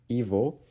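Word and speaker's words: его: or o, ge, o, it is pronounced as v. So in this case, ge equals v. So the first word, evil, it means him or his in English.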